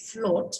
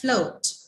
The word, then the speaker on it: float: fl o80 right so usually the tendency is to say float but it's not the o sound it's actually this diphthong oh float okay so bo 80